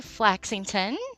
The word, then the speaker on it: Flaxington: So, I'm speaking with Flaxington. Did I say that right? You did. You pronounced it perfectly.